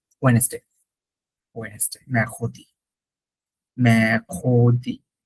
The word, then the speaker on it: mercredi: ওকে, বানানটা কিন্তু সহজ, দেখেন। মে, এম ই আর, মে, সি আর ই, খো, ডিআই। এখন বলতে পারেন কিছু তো মিললো না, কিছু মিলতেছে না বানান। এম ই আর তো ম্যার হওয়ার কথা ছিল, বাট